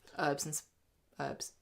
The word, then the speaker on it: herbs: Their Provençal mix of herbs. Don't say... Did you say herbs? Herbs. Thank you very much. We pronounce our H's this podcast, thank you.